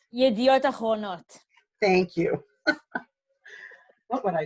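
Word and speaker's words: ידיעות אחרונות: And I would try to pronounce it, but I'm going to need corrected. It's Yedot Abronot. Yediot Achronot.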